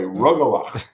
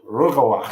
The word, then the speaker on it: Rugelach: Rugelach. Okay. The 3 horse in the 11th. We're going to go home with a good taste on our mouths. All right. That's the correct pronunciation. Rugelach.